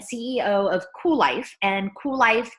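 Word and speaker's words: Kuel Life: of cool life and cool life is spelled all cattywampus with a k' it's k ue l l ife cool life is an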